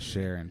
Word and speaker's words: Charon: farrier of death yeah chiron what's going on jack exactly how it's pronounced but you know i've i've heard of chiron but sharon chiron in mythology but your last name is sharon but they they the